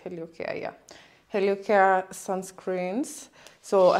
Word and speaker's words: Heliocare: Am I pronouncing it right? HelioCare, yeah.